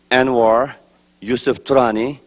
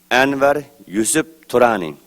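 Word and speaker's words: Anwar Yusuf Turani: so my name is anir yusf trani it's pronounced in ugar language Anar YF Tani and I am the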